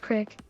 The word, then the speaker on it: creek: Cousins and I went swimming in the creek. Pronounced crick.